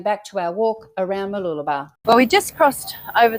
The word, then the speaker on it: Mooloolaba: But now we are going back to our walk around Mooloolaba.